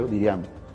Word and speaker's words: Diriamba: Cuando nosotros llegamos a Jinotepe, y eso fue en Diriamba, Diriamba que se llama, se pronuncia Diriamba.